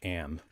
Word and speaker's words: AM: m like like 10 o'clock am but it's pronounced am the author harlan ellison said so but uh